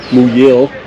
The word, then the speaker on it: Muyil: uh stopped here at muyil and that's how you pronounce it new year new that is really convenient